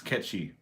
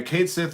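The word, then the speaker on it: Cait Sith: Kate Sith at all it's based on a Scottish lore uh catchy it's based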